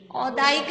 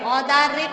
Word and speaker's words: औदारिक: औदायिक नहीं होता, औदारिक होता है शरीर, और वो औदायिक वो नहीं होते भाव, वो औदयिक होते हैं, वो औदयिक भाव होते हैं, ये औदारिक शरीर है।